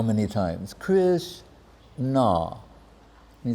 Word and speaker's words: Krishna: And one devotee says to the other, I do not know how much nectar there are in the two syllables, Krish-na. Like we hear, like, someone chanted 3 lakhs, someone chanted, you say, hold up.